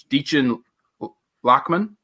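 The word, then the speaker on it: Dichen Lachman: It's Deechin Lachman, who was in Altered Carbon.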